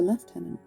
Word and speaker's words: lieutenant: He was a lieutenant, although English don't pronounce it that way, do we? He was a left tenant, assistant to the superintendent,